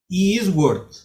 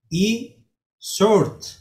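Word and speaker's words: e-Sword: Yo pronunciaba Eastward, pero me corrigieron, no es Eastward, sino que se dice E-Short, no se pronuncia la W.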